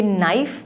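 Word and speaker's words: knife: बच्चे obviously नाइफ़ का नाम लेंगे, तो फिर आप उनको ये रीइटरेट करें, उनको ये समझाएं कि नाइफ़ में के साइलेंट है.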